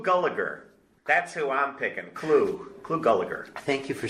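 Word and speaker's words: Clu Gulager: Clu Gulliger.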